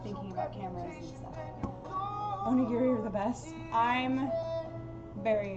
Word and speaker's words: onigiri: I was calling them onigiri because Spanish and English rules, but I guess it's onigiri with a hard G.